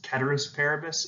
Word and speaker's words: ceteris paribus: And so people will say that the real way to pronounce this is ceteris paribus, but you won't hear too many economists say that.